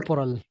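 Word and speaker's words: corporal: Punishment sir, जिस्मानी सजा, कॉर्पोरल punishment, अच्छा, कॉर्पोरल नहीं है सर, कॉर्पोरल। कोपोरल। कोपोरल मतलब इसमें ओ और आर कॉर्पोरल, दोनों साइलेंट है, ओ और आर।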